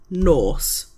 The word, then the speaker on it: nos: So, next we have night, which is Norse, N O S. So morning bor, afternoon prin or pronoun and night is nose.